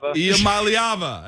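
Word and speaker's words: Iamaleava: Iamaliava.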